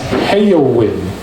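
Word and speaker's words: Heyowin: And I match with this girl whose name was Hoin. I'm going to spell that for you. H E Y O W I N. On my life, I matched with this woman named Hoin.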